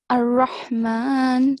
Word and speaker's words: الرحمن: And in the second verse, you pronounce Ar-Rahman very well. Ha was thick.